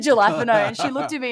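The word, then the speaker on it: jalapeño: The Cheetos in the cheddar jalapeno crunchy. Now, I have always said as a joke, I pronounce this phonetically, so I say jalapeno to my friends.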